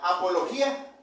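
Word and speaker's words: ἀπολογία: En el griego esta palabra defensa, hermanos, se pronuncia apología, ¿sí, hermano?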